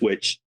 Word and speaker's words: Wych: Is witch. Sorry? Witch, witch is Yeah, literally okay.